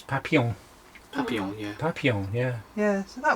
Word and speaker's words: papillon: It's French, isn't it? I didn't realise the word was French. It's French for butterflies. It's papillon.